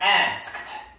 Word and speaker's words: asked: 그래서 이거 발음은 자, asked.